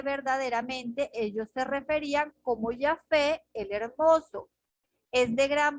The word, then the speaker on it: Yahvé: Pensando, metiendo la W ahí, que es como llegó hacia nosotros el Yahweh, pero la pronunciación de ellos sería Yahvé, sino Yahvé, que era un sustituto para no mencionar el bendito nombre de Jehová.